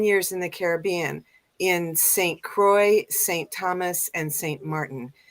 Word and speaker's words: Saint Croix: to pronounce it but it's the Saint Croix right St Croix it looks like Saint Crocs yeah Harry Potter and the horcruxes every time I see that name and stuff and so it's good to know how to pronounce it properly yeah and what it what it means is Santa Cruz so it's Saint cross really so that's the it's French for Saint cross awesome so yeah thank